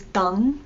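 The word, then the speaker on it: དང: The written form of and is dang, D-A-N-G, but when you pronounce it or say it, you would say da.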